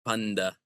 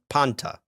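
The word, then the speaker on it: πάντα: So, what you're going to hear is you're going to hear restored pronunciation. the Arasmian school of thought, it's going to be panta, right? Panta. Okay. Yeah. But the Greeks don't say panta because when that N starts vibrating your vocal cords, it's going to change the pronunciation of the T to sound more like D. Okay? Because once that T starts vibrating, it becomes the alophone D.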